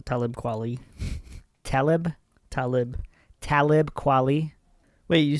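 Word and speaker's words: Talib Kweli: Nas Eminem Game and Talibi. Is that how you pronounce it? It's close. Talibquali.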